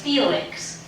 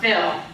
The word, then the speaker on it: Phil: hi I'm Phil you may also say my name as Felix but I prefer film my spouse Betty and I live in apartment 1068.